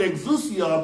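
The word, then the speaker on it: ἐξουσία: The, let's see if I can pronounce it right. The Greek word for it is exousia.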